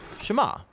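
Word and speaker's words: שמע: is hear or listen which in Hebrew is pronounced shama that's where the prayer gets its name now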